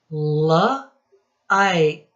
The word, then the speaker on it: like: Then we have another silent E. Like.